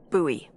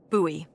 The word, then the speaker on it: Bowie: no warning, he pulls out this huge rusty Bowie knife. It's actually pronounced Buoie. What? No, it's like the last name, like David Bowie. Different last name. Buoy.